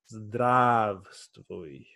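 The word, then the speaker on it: Здравствуй: Zdravstvuy. So I am reading this here. I'm gonna make it bigger. So first syllable we have zdrav, and they have stvuy. Together make zdravstvuy.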